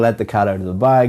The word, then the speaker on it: let the cat out of the bag: The pronunciation of this is to stress or emphasize cat and bag.